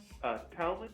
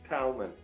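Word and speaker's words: Talmon: Talman. It's spelled like salmon, but with a T. But it's not pronounced like salmon.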